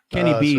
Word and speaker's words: Kenny B: sir thank you sir Kenny B because it rhymes with E3 oh Kenny B from